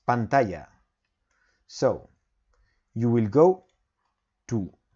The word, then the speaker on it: pantalla: Spanish is pantalla so I will write down pantalla then you will have to look for the pronunciation you also have it here in word reference okay it's pantalla so you will go to powerpoint insert audio